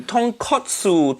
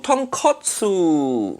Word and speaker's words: tonkotsu: But katsu mean cutlet. So tonkatsu mean fried piece of pork. That completely different thing. Say it properly. Tonkotsu. Tonkotsu.